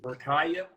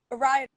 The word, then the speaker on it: Rida: Rakaya? Rida. Rakaya, right? No, Rida.